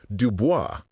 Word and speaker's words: Dubois: Dubois, pronounced Dubo, was short, black, and brilliant with a Martin Luther King mustache and a Danny Devito personality.